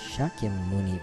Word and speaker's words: Shakyamuni: Buddha, the historical Buddha, is named Shakyamuni Buddha, Shakyaamuni, or sometimes instead of SH it's just S without the H, but it's pronounced Shakyamuni Buddha.